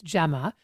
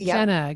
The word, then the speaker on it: Gemma: So because people have never been able to pronounce my name properly, it's Gemma, but I get Jenna, Gemma, it goes on and on and on, right?